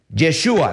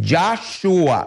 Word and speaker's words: Yahshua: Yeshua. No, te equivocaste. Es Yahshua. Acuérdate, es Ya, dice uno por ahí escuchando.